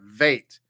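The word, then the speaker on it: וית: In this case, it makes a V sound, a veit. So the top is beit and the bottom is veit.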